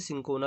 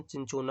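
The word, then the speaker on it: Cinchona: तो ये चिंचोना पेड़ से बनी होती है, सिंकोना इसको हिंदी में बोलते हैं और इंग्लिश में इसका प्रोनाउंसिएशन चिंचोना होता है।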